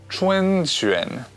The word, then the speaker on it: 春卷: The next on the Chinese New Year menu, 春卷, spring rolls.